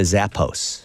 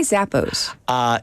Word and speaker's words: Zappos: So should we be pronouncing it Zappos? Zappos, yes. Instead of Zappos, Yes. so American.